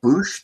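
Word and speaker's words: Boushh: And is it Bosch? Bosch? Oh, Boosh, the one that Leia was?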